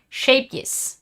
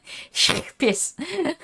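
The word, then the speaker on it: Scheepjes: Shapious. It's like you have phlegm in your throat and you need to get rid of it. That's how you pronounce that.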